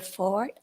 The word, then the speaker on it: Forte: you next we have Forte I believe it's pronounced Fort my name is Ford I live at 4072